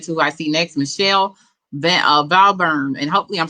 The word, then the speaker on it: Michelle: Yep, it's pronounced Michelle, and good morning, everyone.